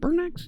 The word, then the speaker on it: Burnax: Not Burn. Is it Burnax? Yeah, I pronounced that right.